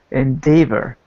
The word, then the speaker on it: endeavor: one minor pronunciation note this word here is endeavor with an e sound endeavor yeah in debt ever